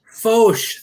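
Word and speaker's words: Foch: This is how did you pronounce this? I don't want to get in trouble. Fauche. Fauche, thank you.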